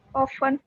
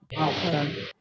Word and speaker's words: often: In British English, this letter T is silent, and you are going.